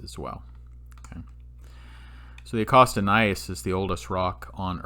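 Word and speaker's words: gneiss: billion years old nice this word nice right here it's not spelled n-i-c-e like a nice person it's spelled g-n-e-i-s-s is a german word and it refers to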